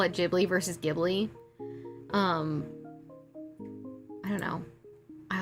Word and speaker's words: Ghibli: I call it Gibli only because I get confused which is the right way to say it. Yeah, for some reason, um, Japan doesn't really do the G sound.